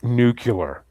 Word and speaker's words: nuclear: It's pronounced nuclear.